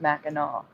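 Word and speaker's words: Mackinac: now right well that's how it's spelled it's pronounced maal yeah that's right that's how that's how they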